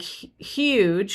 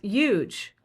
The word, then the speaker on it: huge: So words like huge, which now I have learned after being teased mercilessly to aspirate, I would pronounce huge.